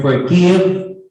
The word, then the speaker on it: forgive: prominence a syllable has in the word forgive the syllable gives sounds more prominent than uh yeah that's why because this is more prominent than the sound of the syllable for it's forgive forgive it's